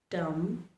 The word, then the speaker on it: dumb: Climb, thumb, lamb, dumb, dumber, plumber. Notice I did not pronounce the letter B. I didn't pronounce them at all. I stopped at the letter M.